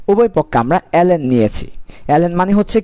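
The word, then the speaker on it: ln: আচ্ছা এবার কি করব, আমরা উভয় পক্ষে লক নিব, লকি লকি মানে অ্যালেন নেওয়া, উভয় পক্ষে অ্যালেন নিব, তার মানে অ্যালেন কে সমান অ্যালেন, উভয় পক্ষে আমরা অ্যালেন নিয়েছি। অ্যালেন মানে হচ্ছে কি, লন, লন মানে কি, লন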